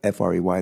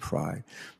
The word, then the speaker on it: Frey: A lot of people, F-R-E-Y, they pronounce it Fry, but he pronounces it Frey.